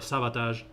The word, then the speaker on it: Sabotage: one simple song from sabotage or sabotage as they you should pronounce it it's called follow me